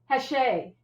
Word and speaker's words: Hachey: Hachey.